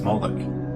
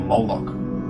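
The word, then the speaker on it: Moloch: The MLK is vocalized as Moolik or Moolok in the Maseretic texts, which is an authoritative text in rabbitic Judaism. It's from this pronunciation that we get the contemporary name Molo.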